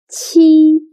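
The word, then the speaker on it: qi: The next one is chi. T sounds similar to the first sound of cheap. But when pronouncing chi, your tongue should be more flat. And also you need to stretch your mouth to two side ch.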